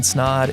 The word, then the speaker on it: Snod: But until then, my name is Snod. It rhymes with odd and I'm out.